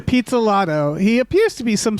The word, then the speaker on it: Pizzolatto: Pizzolatto.